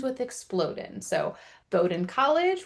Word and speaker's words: Bowdoin: So Bowden College rhymes with exploding knowledge.